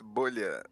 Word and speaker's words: Bolha: Bola, is that how it's pronounced? Actually, it's bolha, but it is bubble in Portuguese because I'm Brazilian, Oh, gotcha.